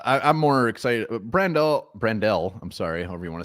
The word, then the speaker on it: Brandel: side love that and Blake brandelle um apparently that's how you're supposed to pronounce that Blake brandale uh yeah he's back